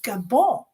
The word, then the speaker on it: Gabon: And she said, it's not Gabon. It's called Gabon. Gabon. Because we don't pronounce the N because we speak French.